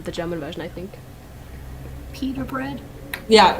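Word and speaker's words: Peeta: called that in the german version i think pita bread yeah it's i think it's it is supposed to be a little nod to bread although pita bread is spelled p-i-t-a yeah but i i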